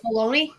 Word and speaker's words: bologna: Now, if you were to put that word in front of me, I would not pronounce it that way. Well, listen, talk about spelling. Baloney. Yeah, baloney. Bologna.